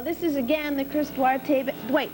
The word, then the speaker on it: Duarte: Okay, well, this is again the Chris Duarte... Wait, I got to say it right. Chris Duarte, Spanish. It's real there. good. It's Spanish.